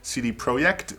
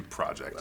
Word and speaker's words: CD Projekt: I think it's actually in the Polish pronunciation is something like CD Projekt but for this presentation we'll just do project it's a little easier